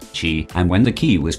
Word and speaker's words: qi: They believed that the human body was filled with and animated by an invisible life-giving force which they called qi, pronounced qi, and when the qi was flowing well and